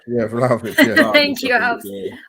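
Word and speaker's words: Vlahović: I can't pronounce his name. Yeah, Vlahovic.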